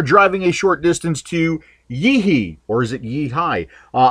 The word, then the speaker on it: YiHi: manager uh there at yei and the correct pronunciation is actually yeeh High um but they do acknowledge the fact that